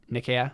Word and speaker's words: Nikea: I think the emphasis would be on the first syllable though, because Greek it's Okeanos, so Nikea makes sense.